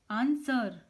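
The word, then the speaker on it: answer: आंसर, यहाँ भी W silent है।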